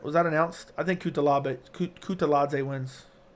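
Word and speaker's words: Kutateladze: I think Kutaladze wins. It's Kutaladze, actually. I think is how you pronounce it.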